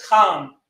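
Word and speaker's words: חם: So technically the correct way to say Ham is Kam with a strong CH sound to it.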